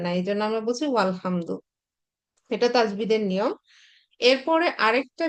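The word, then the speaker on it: والحمد: এখানে ওয়া শব্দটা এসছে, যখনই শব্দের শুরুতে আমি ওয়া বসাচ্ছি তখন আর এই যে আলিফ মাঝখানে যে মানে আলিফ আছে বা হামজাতুল ওয়াসাল আছে এটার আর উচ্চারণ করা লাগে না, মানে উচ্চারণ করা যায় না। তখন এই ওয়াটা হচ্ছে লামকে ধরে নেয়, এই জন্য আমরা বলি ওয়াল হামদু।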